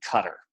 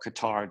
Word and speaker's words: Qatar: it in 1973 in Cutter or Qatar depending on how you pronounce the country and he had it